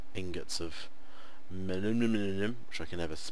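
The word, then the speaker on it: Manyullyn: There you go, that's how you say it, millennium.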